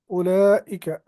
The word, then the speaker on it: أُولَئِكَ: Note that the واو in أُولَئِكَ is not pronounced.